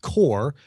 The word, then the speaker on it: QOR: This is a product from the Axia company, and you're looking at what we call the core, and that's spelled very IKEA-like. It's QOR, core 32, the core 32.